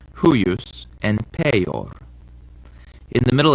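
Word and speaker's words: huius: Also, when the I is in between two other vowels later on in the word, it acts like a consonant too. So it's huyus and peyor.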